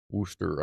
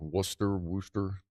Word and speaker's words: Worcester: I've been Worcester. I've more like Worcester. See, Rob had said it was closer to Rooster. Maybe that's more of a thing when you're over there. Worcester or Worcester.